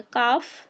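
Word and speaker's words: calf: तो ए सॉरी जो एल होगा वो हमारा साइलेंट हो जाएगा। काफ हाफ आयमंड आंड बाम का पाम सैमन चॉक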